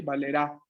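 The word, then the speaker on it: valerà: La boca bien abierta al momento de pronunciar, ¿eh? Vamos a decir, ¿no? Io valerò, lui o lei valerá. A, no A. Esta es cerrada, A. Abierta tiene que ser.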